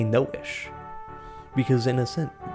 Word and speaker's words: Naoise: So yeah, you're gonna read that as Noise, rather than read this, which most people will just look at it and say it's Naoise, like it rhymes with mouse or something. But it's Nisha, and it's a traditional Irish name.